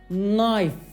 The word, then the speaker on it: knife: yazılır fakat Kınay diye okunmaz yani k harfinin telaffuzu ki yaratacağı kapalı kokenin düşmesiyle sona erer ve Naif demeniz yeterlidir Bu üçüncü özellik ise arkadaşlar Naif